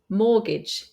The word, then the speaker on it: mortgage: was pronounced often because we have words with a t in the Middle where the t is not pronounced for example Castle mortgage listen but if you want